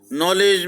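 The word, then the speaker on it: knowledge: इसी तरीके से नॉलेज, नॉलेज में K, W और D तीन ध्वनियां साइलेंट है।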